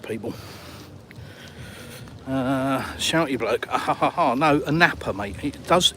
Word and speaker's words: Anapa: No, a napper, mate. It does. It is spelled a Hannah, but a napper.